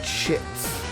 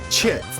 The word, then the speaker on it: chits: It's blips and chips. Chits, not Chips. shits. I think that's the joke, Johnny. It should be chits, but it sounds like shits.